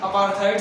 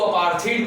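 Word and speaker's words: apartheid: Detail करूंगा और बताऊंगा अपार्थाइड सिस्टम के बारे में। वैसे तो लोग इसको अपार्थीड भी बोलते हैं, बट वी can pronounce both अपार्थाइड और अपार्थीड, बोथ आर सेम।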